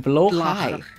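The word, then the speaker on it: blåhaj: Yeah, so like the shark, the blahach guy, you pronounce it blowhai.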